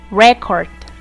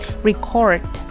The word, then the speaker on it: record: Look and listen to the following words and notice that all of them are nouns and all of them are pronounced making the stress in the first syllable. Progress, present, object, record. When these nouns are converted into verbs, their stress changes to their second syllables.